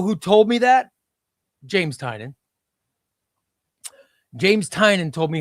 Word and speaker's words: Tynion: Oren says, "Ray, tell us how to pronounce" It's Tynion. That's how to pronounce it. Do you want to know who told me that? James Tynion.